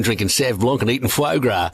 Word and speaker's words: foie gras: He's too busy sitting at home drinking Sauv Blanc and eating foie gras. It's pronounced foie gras, David.